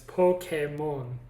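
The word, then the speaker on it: Pokémon: monsters yeah but in the in the japanese pronunciation it's pokemon yes yeah so and even but i still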